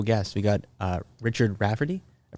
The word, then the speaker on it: Rafferty: a really cool guest we got uh Richard Rafferty I pronounce that right yes you did and uh